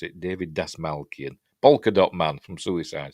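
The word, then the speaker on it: David Dastmalchian: David Dasmalkian, that's how you pronounce it. David Dasmalkian, Polka Dot Man from Suicide Squad, and also the voice of Michael Ironside as well.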